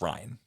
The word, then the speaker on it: Rian: It's just spelled weird. I think it's spelled like Rain, but it's Ryan as far as I know.